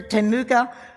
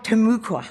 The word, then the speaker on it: Timucua: We honor the Temuka Seminole, Timucua, I keep mispronouncing that one, Seminole and all other native